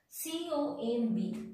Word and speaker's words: comb: That means whenever letter B is sitting just after the letter M, in that case, we are not pronouncing letter B. In that case, letter B is the silent.